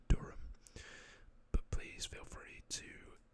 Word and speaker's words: Durham: UK, and this is, now in the UK we pronounce it Durham, but I guess in the US it could be like Durham, or something along those lines.